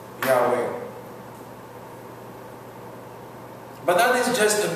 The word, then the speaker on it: Yahweh: So they put Yahweh. Yahweh. But that is just a means so we could pronounce the name.